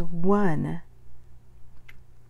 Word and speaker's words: one: not doing anything here the word is one and the spelling exists because we used to say own we don't say own anymore we say one okay so there's one